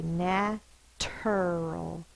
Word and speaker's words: natural: spelled as you are that influences that t natural it feels weird to say natural your mouth just kind of wants to slide through it natural that's why we say the CH sound a is spelled with